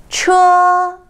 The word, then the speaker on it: 车: 车 The second one is a rising tone from the middle pitch to all the way up.